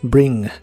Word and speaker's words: bring: El verbo traer en el presente de inglés es bring. Se pronuncia como se escribe, solo que mantienes tu lengua un poco más atrás para que suene menos superficial.